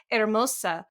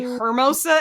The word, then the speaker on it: Hermosa: It's just because I know how to pronounce hermosa. And they say hermosa, and it makes me, I'm like, I know.